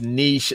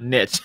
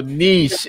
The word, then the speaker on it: niche: correction there um of viper six says it's pronounced niche not niche all right uh so niche is what we need to say thank you